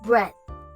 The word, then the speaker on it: breadth: We start with saying bread, just like the food one, but we end it with the th sound, just like in the second word.